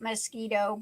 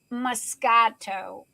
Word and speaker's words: Moscato: pink champagne mosquito mosquito i call it mosquito but it is pronounced moscato according to jenny rose